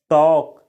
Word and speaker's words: talk: टू टॉक टॉक काही इसे टॉक पढ़ा जाता है दोस्तों टॉल नहीं बोला जाता है एल का उच्चारण नहीं होता है दोस्तों इसको बोला जाता है टॉक टॉक टॉक का हिंदी